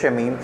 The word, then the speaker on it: शमीम: Basically इसका नाम भी हम गलत प्रोनाउंस कर रहे थे, इट इज़ मिसेस एंड मिसेस शमीम, played by सबर कमर और नुमान जाल।